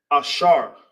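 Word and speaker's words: אשר: And how you say happy in the ancient in Hebrew is ashar. Uh, ashar. Yep, you got it. Happy. Happy in English. In the ancient Hebrew, it's pronounced ashar.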